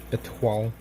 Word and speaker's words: Étoile: Étoile.